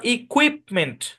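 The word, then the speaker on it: equipment: এটাই বরাবর ভাগ হবে এ শব্দের উচ্চারণ ইকুইপমেন্ট ইকুইপমেন্ট ইকুইপমেন্ট ইকুইপমেন্ট এখানে আই পি এর সাউন্ড হচ্ছে ইপ কিউ এর সাউন্ড হচ্ছে কুয়েট পুরোটা মিলে কুইপ কুইপ ইকুইপমেন্ট ইকুইপমেন্ট মানে হচ্ছে সরঞ্জাম ইকুইপমেন্ট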